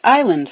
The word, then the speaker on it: island: as island until someone picked up an S from the Latin insula and stuck it where it was never meant to be finally we have a